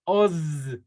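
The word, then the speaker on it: עֹז: Se pronuncia os. Os.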